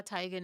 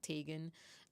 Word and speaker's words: Teigen: She was recently like around the pandemic was saying like, yeah, Tigan is like the name pronunciation technically, but she just never corrected people when they said Tegan.